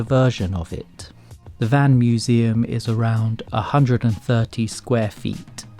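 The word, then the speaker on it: Mmuseumm: The next minuscule museum is called Museum. The extra M is silent.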